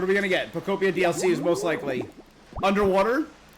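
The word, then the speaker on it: Pokopia: I've been saying it right. I've heard people pokeia. No, Popia.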